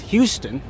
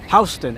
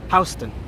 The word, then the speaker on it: Houston: A lot of folks that are not from New York will pronounce that as Houston. It is spelled the same way as Houston, as the city in Texas, but it is pronounced Houston, as in house. Houston, not Houston.